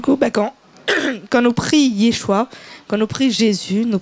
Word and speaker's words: Yeshua: Alors, Yeshua, est-ce que m'y prononce bien ou pas?